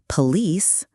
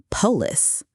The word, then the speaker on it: police: Police, police, not polis.